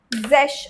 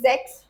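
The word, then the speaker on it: sech: It's just zesh over here. It's giving first of all the sure sound zesh, not zex. Okay. What is 6? It's zex, right? But when we write 16, it is zesh.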